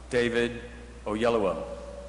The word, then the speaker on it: Oyelowo: And that question is, how the hell do you pronounce his name? So if you will say with me now, David Oyelowo.